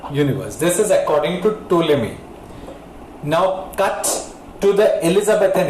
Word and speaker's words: Ptolemy: Actually, there was a man called Ptolemy, P-T-O. The name starts with P, but the P is silent. Ptolemy, Ptolemy.